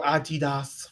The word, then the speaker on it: Adidas: the LA Gear and the Adidas okay or Adidas for the bougie and shut up that's how you pronounce the name Adidas um well us American folks we say Adidas anyway Brian is wearing